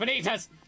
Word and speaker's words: Vanitas: Vanitas from Kingdom Hearts. I've been getting into that one recently. Vanitas? Yeah, Vanitas. Vanitas. Vanitas. It's Benitas! It's literally pronounced Benitas!